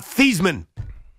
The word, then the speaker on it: Theismann: Honest audience, which means if you're honest, it's about Thiesman. That's his real pronunciation.